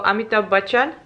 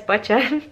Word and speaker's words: Amitabh Bachchan: Also, Amitabh Bachchan. Yes, Bachchan. I pronounced it correctly, right?